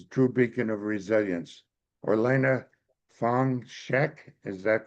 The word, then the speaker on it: Orlena Fong Shek: Or Elena Fong Sheek, is that correct? I pronounce that's correct.